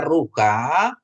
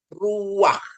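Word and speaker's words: רוח: gitu ya begitu ya tapi ini tidak dibaca rukha Tapi bacanya Ruak ya Ruak artinya Ro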